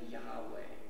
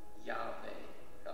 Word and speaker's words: Yahweh: Now some pronounce the name Yahweh or Yahweh, although in many traditions the name isn't even pronounced because it's considered so sacred, so mysterious, so holy.